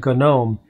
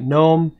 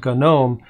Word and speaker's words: GNOME: have a habit of calling it gnome with a silent g which is technically the proper english way to pronounce it but i just wanted